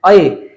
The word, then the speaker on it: ऐ: जैसे मैंने बताया कि इस चिन्ह की ध्वनि है अय, लेकिन बहुत जगह पे हम इसको ए भी बोलते हैं, तो ये आप ध्यान रखेंगे।